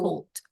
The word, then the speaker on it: cold: Cool, It's cool, cold. cool. O. O-nya bulat, cold.